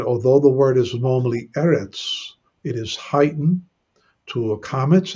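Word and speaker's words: אֶרֶץ: is usually usually errates errors is a segulate noun accented on the first syllable eretz okay but when the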